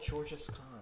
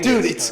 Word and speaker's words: Genghis Khan: It's because you mispronounced it. So we didn't know what you're talking about. What is wrong with George's Khan? It's right? Genghis.